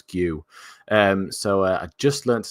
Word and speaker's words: Guiu: I just learned how to say his name as well. I was going Giu the whole time. They were like, no, it's Guiu.